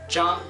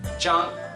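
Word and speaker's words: Zhang: as we said before is so J together J that's right one more time J just imagine a Miss Jang has uh hearing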